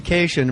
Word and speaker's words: Kashian: Jackie Kashian rhymes with vacation.